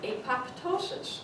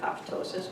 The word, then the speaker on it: apoptosis: So when younger people, like Dr. Doling, came across the word apoptosis, they pronounce it phonetically, apoptosis. So the younger community just gradually learned to say apoptosis rather than apoptosis.